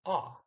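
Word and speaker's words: å: it says saying two they say ah it's like an aw sound now you see that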